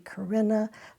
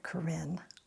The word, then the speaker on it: Corinne: So apparently the original Greek pronunciation of this would be Corinna, but because it's a French statue, it's called Corinne.